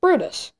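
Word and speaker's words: Bryde's: is based on a brutus whale it looks like it's spelled brides whale but it's actually pronounced brutus it is also of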